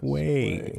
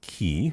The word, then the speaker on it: quay: Quay. Not key. I don't know who says key. It's qu. Only maniacs say key.